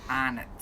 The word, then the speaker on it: Arnott's: You were so cute the way you said it, but we pronounce it here arnots.